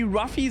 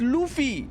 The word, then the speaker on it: Luffy: Ich krieg die Krise, wenn die Ruffy sagen. Der heißt Luffy. L-U-F-F-Y. Er wird nicht mit R geschrieben und Raffi ausgesprochen, sondern Luffy.